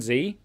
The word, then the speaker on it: Z: w x y and z oh oh I'm pretty sure it's pronounced Z actually it's pronounced Zed but I'm talking about